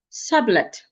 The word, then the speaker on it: sublet: none of them is none of the vowels rather is reduced. The first vowel retains its normal vowel sound a sap. The second vowel also retains it expected vowel sound e.